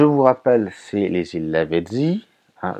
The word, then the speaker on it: Lavezzi: Je vous rappelle, c'est les îles Lavezzi. Hein, je le prononce comme ça pour ceux qui ne sont pas habitués, que c'est en Corse.